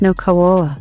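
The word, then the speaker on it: Nüwa: fushi and his wife n Gua or new Kua pronounced no KOA were fish people said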